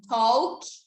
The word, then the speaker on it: talk: vejo muita gente falando Talk não é thol pronuncia do ter pronúncia não mas o sono tá e eu não pronuncio esse L Eu não falo esse l então quando a gente